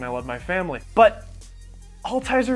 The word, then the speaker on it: Altizer: love my family but all tiser is a hard word to say it's a German word it's hard to spell usually when people say my name for the first time they say I'll teaser a litter I'll teaser it sounds like the disease Alzheimer's it's just a constant